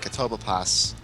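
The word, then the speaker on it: Catoblepas: But actually, when I went back to fight Carbuncle and Katobapas, if you weren't wondering how to pronounce that, I just pronounced it for you.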